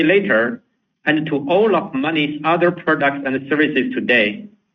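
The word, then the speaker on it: Monee: On the same day, we rebranded our digital financial services business from Coney to Money, spelled M O N E.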